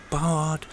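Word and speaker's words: Baird: I read somewhere it should sound like bard, because somewhere, somehow, it seems we were discovered, or found, by a man called Beard, or Beard, or Bard, or whatever.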